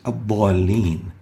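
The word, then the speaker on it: الضَّالِّينَ: Next example is ad-dallin. Ad-dallin, we have a dad that has a fatha and followed by an alif. Three reasons to give it tafkheem. And let's listen to Sheikh al-Husari. Ad-dallin.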